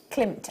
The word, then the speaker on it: Klimt: How do I pronounce that? Klimt. Klimt, as in Gustav Klimt.